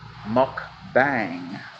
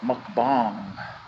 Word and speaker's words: mukbang: day something called mukbang not to be confused with the pronunciation muck bang but mukbang and something avocado I